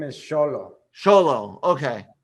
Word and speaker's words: Xolo: Mexico, depending on what part of Mexico you are, the letter X has different sounds.